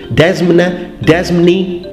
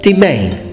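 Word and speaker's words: demesne: Why is it read domain? I had to look it up on the dictionary. I was like, how is this pronounced? Desmni, domain.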